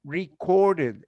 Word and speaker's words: recorded: where yes record recorded recorded in this case you pronounce it because it has a final d the same as need needed need needed record recorded want wanted visit visited in this case was recorded